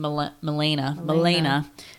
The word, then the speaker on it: Milena: Milena. Looks like Melania, but it's Milena.